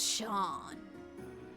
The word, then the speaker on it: Seam: The name's Seam. Pronounced Sean.